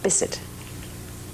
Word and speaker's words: Bisset: Bisset.